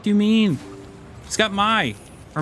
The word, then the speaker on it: Mai: is that like like every time I see Mai like spelled out like that, I think of how it would be pronounced in Japanese because of anime and all that. And that would be pronounced Mai. Mai. Even though they spell it like even though they act like the I is a Y for some reason.